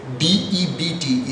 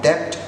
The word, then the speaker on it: debt: Now, if we go for the actual pronunciation of these words, D-E-B-T is not debt, but it is debt. The B is silent.